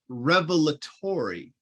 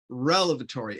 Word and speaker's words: revelatory: David Thomas wrote, it's revelatory, not relevatory.